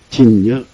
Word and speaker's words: 진여: 그 그래서요 진여 진녀라고 하거든.